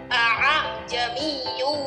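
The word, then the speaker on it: أَأَعْجَمِيٌّ: Nah, tapi cara membacanya di sini hamzah yang pertama dibaca jelas, yang kedua dibaca samar. Jadi A-nya jelas yang pertama, yang kedua samar.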